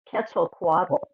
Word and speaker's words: Quetzalcoatl: Colleen, can you tell us how that word is supposed to be pronounced instead? It's Quetzalcoatl.